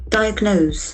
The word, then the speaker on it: diagnose: Diagnose. Diagnose. There are three syllables to diagnose. Knows that is very prominent.